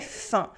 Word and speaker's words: faim: J'ai faim. We have un sound with a very rare spelling.